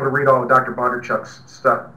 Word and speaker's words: Bondarchuk: Bondarchuk's stuff. Bondarchuk. Did I say it right that time? Yeah, Bondarchuk. Yeah, I didn't know either, but I do now.